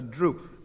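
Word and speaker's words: drupe: Now it's Dispelis, yours is a droop, only spelled D R U P E.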